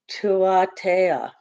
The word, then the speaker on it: Tuatea: And it says it's pronounced Tuatea. It almost sounds Native American, right?